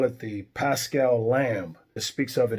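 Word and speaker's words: Πάσχα: And on the flip side, in the Greek, which is New Testament, it's Pascha. Pascha.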